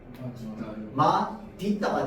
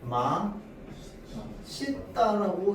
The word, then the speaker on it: 맛있다: 자, 그러면 얘는 표준 발음으로 따지자면 발음이 어떻게 돼야 될까요? 마디따가 돼야 돼. 맞죠? 근데 우리 맛 있다라고 얘기하는 사람 있습니까? 없죠. 물론 그렇게 말한 사람 있을 수도 있어요. 그 그게 프레임이야. 아고 보면. 그런데 우리 마 싫다라고 이야기를 해도 다 됩니다. 왜 그런데요? 얘는 너무 많은 사람들이 써서 그냥 표준 발음으로 허용해 줬습니다.